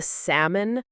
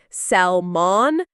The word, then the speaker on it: salmon: Well, I once tried to be fancy and ordered the salmon, but I pronounced it with a hard L sound, like salmon, and the waiter looked at me like I was speaking Martian.